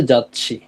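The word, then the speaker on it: 雑誌: ওইটা আলাদা উচ্চারণ হবে আর যদি ওইটা হচ্ছে একটু ছোট থাকে তাহলে দুইটাকে যুক্ত করবে এখানে যেমন বাংলাতে খন্ডোত্তর উচ্চারণ হইছে অনেক জায়গাতে এটা একেবারেই উচ্চারণ হয় না।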